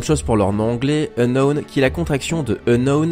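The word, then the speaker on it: Unown: pour leurs noms anglais unknown qui la confection de unknown avec un n est un cas en moins et qui signifie inconnu d'ailleurs vous aurez remarqué que ça se prononce de la même manière les arbitres possède une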